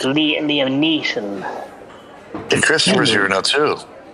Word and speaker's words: Liam Neeson: She's the female Liam Neeson. You're pronouncing it wrong. It's Liam Neeson.